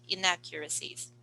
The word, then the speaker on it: inaccuracies: Where's the stress of the word? The second syllable. Second syllable. So you say inaccuracies.